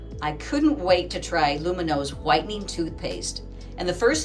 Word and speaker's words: Lumineux: dollars off so remember it's luminos spelled with an x so you can x